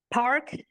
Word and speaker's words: PARC: Park Park and Clearfield is spelled P A RC.